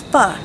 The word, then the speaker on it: pho: why not make fun spelled pho pronounce pho a classic Viennese noodle soup